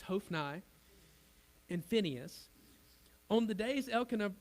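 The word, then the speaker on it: Hophni: of Eli Hof and I I looked it up on YouTube that's actually how you say it it's hofnai infineus on the days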